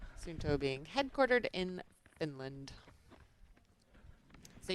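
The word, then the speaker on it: Suunto: The more that I pronounce, I try to say it the Finnish way. Sununto being headquartered in Finland.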